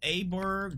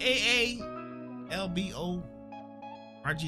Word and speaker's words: Aalborg: We got Odense to Aberg, DK, Budapest. Okay, whoa. How do you spell that? Aberg. Yeah. A. Boy. Hey, yo, boy. Yeah. Okay. A A L B O R G. Like cyborg.